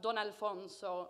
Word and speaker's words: Don Alfonso: and finally we have don alfonso pronounced don kind of like dusk and don and then alfonso he is our base